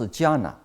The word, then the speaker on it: jhana: And also about 2,000 years ago, Chinese Buddhists copy the Indian ancient word, okay, jhana. And also in Sanskrit, it pronounced dhyana, but in Pali, it pronounced jhana.